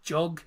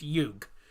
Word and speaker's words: Jug: And before anyone says Jug, it's not Jug, it's Jug. Because the J is pronounced as a Y in Slovenia.